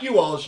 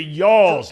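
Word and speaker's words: y'all's: all's the Florence y'alls it's the yawls not the you alls the y'all y'alls uh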